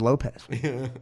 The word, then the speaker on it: Lopes: Fitz admits his but the pronunciation is Lopez of his name and he changed the